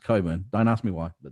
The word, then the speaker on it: Cockburn: proof cockburn yeah it's it's spelt cockburn but pronounced coburn don't ask me why